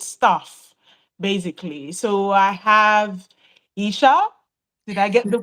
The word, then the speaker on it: Aisha: would call it in my name is Asia I'm using my Nigerian accent we would call it Aisha so yeah absolutely I know that with um my parents decided to be a little bit different and change the pronunciation of my name but when people call me Aisha I um it's that's how it's supposed to be so I same name